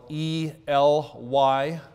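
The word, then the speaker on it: עליון: That is the Hebrew name Elyon. In English, we would spell it E-L-Y-O-N, Elyon.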